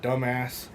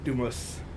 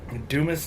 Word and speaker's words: Dumas: around here somewhere called dumbass it's not actually how you say it it's dear Texas but Dumas Dumis Texas I have a friend